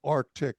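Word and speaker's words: RTIC: This one was called Arctic. It was spelled with an R-T-I-C.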